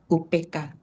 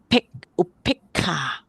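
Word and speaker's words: upekkhā: So even though this E is a long sound, but because of the K, you have to pronounce short sound. So upekha, actually we pronounce that upek. Upekha. Okay. So we pronounce it upekha.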